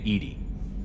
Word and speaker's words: EDI: Why are you named Edy? ED is the phonetic pronunciation of EDI.